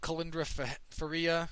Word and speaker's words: Kalindra Faria: Joanne Calderwood beat Kalindra Faria. Apparently that's how she wants it pronounced.